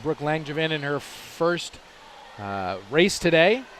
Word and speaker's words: Langevin: How do you pronounce it? Brooke Langevin? Langevin.